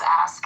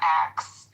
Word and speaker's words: ask: The word is ask. It's ASK. Oh. Pronunciation is not ax.